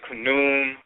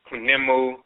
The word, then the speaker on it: Khnum: So some will say Khnum, some is Kunemu, and so forth.